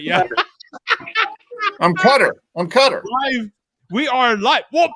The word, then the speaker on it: Qatar: I forget how they were pronouncing it now. Cutter. That's right. Yeah. I'm Cutter.